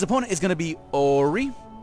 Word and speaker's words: ORRY: is going to be Ori or how he pronounces it is oh Riri and he's going to